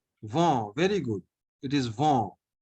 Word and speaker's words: vent: Va. Vent, very good.